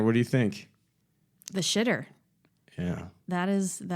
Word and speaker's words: Schiit: It is spelled much differently because today's interview is with Jason Stoddard of Schiit Audio, spelled SCHIIT. It's supposed to sound that way.